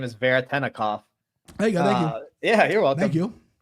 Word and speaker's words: Veretennikov: I mean, you said so much that I hardly know how to follow it up, other than to say his name is Veretennikov.